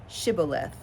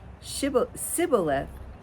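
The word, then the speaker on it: Shibboleth: So they couldn't say shh. They could only say s.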